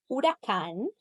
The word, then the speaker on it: huracán: You should have had a silent H like hace, hielo, huracán. You should have read the tilde because here you can see this word has three versions of it.